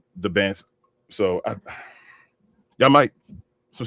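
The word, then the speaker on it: Dybantsa: It's the Banza. So you say the D and the B. All right, the Banza.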